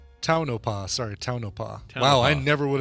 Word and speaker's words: Tonopah: gotten or no toe i think it's toe like in toe car okay so phonetically though that should be like a t-o-e or something t-o-e yeah yeah get